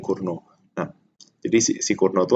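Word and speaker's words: Cournot: kunci adalah Kurno itu, ini nyebutnya Kurno ya, bukan bukan Curnot ya, apa T-nya nggak dibaca, jadi bacanya Kurno.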